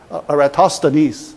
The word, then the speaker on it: Eratosthenes: Sieve of, how to pronounce it? Good. Yeah, because for the class I practiced quite some time. Eratosthenes, right?